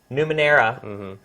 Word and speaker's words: Numenera: The next one I'm going to talk about is Torment, Tides of, and let me get this right, I mispronounce this every time, Numenera.